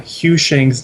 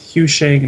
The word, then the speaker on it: HuShang: where i apologize um it's not i'm pronouncing uh hugh shang's name name wrong this whole time it is hugh shane not shang and i am sorry